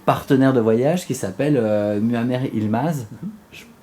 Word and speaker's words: Muammer Yilmaz: a aussi ton partenaire de voyage qui s'appelle Muammer Yilmaz. Je prononce bien. Très bien, Muammer Yilmaz.